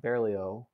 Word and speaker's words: Berlioz: people like BRIMA and Berlioz. No Z. It's there, but you don't say it.